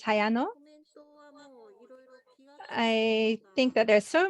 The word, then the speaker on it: Hayano: We have, is it Hayano? We see your camera on. I wonder if that means that you have a comment or anything that you would like to share. Sorry if I've pronounced your name wrong. That's right. Yes, my name is Hayano.